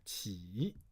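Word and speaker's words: 稽: Okay, and that's 鸡. Okay, now this one has a second pronunciation called 起.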